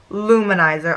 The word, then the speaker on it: Lou Manizer: The way it's spelt is L-O-U space capital M-A-N-I-Z-E-R. So that's why I was saying it separately, but I just got that. It's Luminizer.